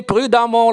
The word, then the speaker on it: prudemment: conseils de votre maîtresse papa il faut traverser prudemment la route s'écrie e2m peu un thé mais se prononce amant un peu de vocabulaire lentement mon